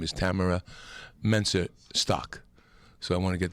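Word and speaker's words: Tamyra Mensah-Stock: The correct pronunciation, Tamara Mensa Shaw? Stock. Yeah, the young lady, the young Olympic champion wrestler who won gold and draped herself in the flag. Her name is Tamara Mensa Stock.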